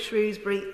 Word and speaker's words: Shrewsbury: Or should that be Shrewsbury? Apparently, your pronunciation reveals which side of the river you grew up on, but actually the people of Shrewsbury and Shrewsbury are very tolerant of both pronunciations, as it turns out.